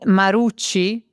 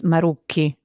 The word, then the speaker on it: Maruki: And you said Maruchi, which it isn't. It's Maruki.